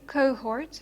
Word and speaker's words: cohort: it's not always mute if you think of a word like cohort okay cohort you have an O followed by an H which is aspirated so actually uh pronounced and another O Okay